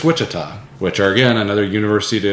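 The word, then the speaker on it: Ouachita: do you pronounce it the o-u-a-c-h what cheetah Wichita it's Wichita which are again another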